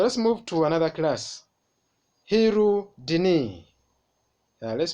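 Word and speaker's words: Hirudinea: Hirudini. Let's pronounce together.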